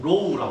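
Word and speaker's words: ρ: 구자를 반대로 쓰고 얘의 발음은 어떻게 하냐 RHO 로우라고 합니다. 로우 그리스어예요. 그리스어 로우로 합니다.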